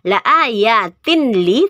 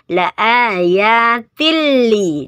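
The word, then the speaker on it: لآيات لأولي: Jadi langsung dimasukkan ke lam, bukan dibaca la ayatin li tetapi dibacanya la ayatil li, dimasukkan ke lamnya.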